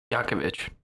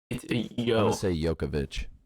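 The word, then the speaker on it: Jovovich: he's married to mila yakovich see what's weird is isn't it j-o-v-o okay yokovich it's a yo jay is always a yeah no that's not french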